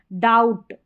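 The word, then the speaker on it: doubt: है, डेप्ट नहीं पढ़ते, डेट पढ़ते हैं, B साइलेंट है। डाउट, यहाँ पर है सटल, सबटल नहीं पढ़ना, सटल।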